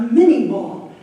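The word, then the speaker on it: Minié: But by the Civil War, 19th century, they were using the mini ball. I think it's actually pronounced minay, but a lot of people call it mini ball.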